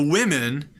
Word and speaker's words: women: he's chicken dish the women sit in the distance the women also not an eye word but just happens to have the same vowel women plural of woman